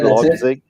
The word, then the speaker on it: Leipzig: Yeah, Leipzig.